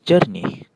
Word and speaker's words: jernih: is letih, this is jernih. meanwhile these are sejuk, perlu bentuk. and this one is telur. So you can see whenever E is paired with an I or U it has an "er" sound.